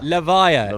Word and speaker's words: Levia: my wife voiced uh got told the official pronunciation but I've forgotten it already it's levia levia confirmed by LSS so uh so this matchup